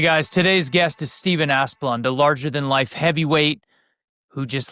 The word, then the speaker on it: Asplund: Is that how you pronounce it, Asplund?